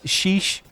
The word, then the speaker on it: sheesh: All right, what does sheesh mean? An expression when you're impressed or amazed by something, often pronounced in that shrill way, emphasizing the E sound.